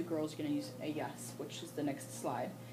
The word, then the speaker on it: ellas: Ellas, talking about just girls, can only be about girls. Same as, instead of saying Sofia Ana, then just ellas, and pronounce it with a double Y.